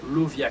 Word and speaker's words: Lauviah: Certes, on est capable d'adresser dans la prière, dans la date cap mardi cap 20 juin 2023, Angelan chérubin qui c'est Lovia qui s'écrit L-A-U-V-I-A-H, il y a un rapport avec le rituel d'Ié.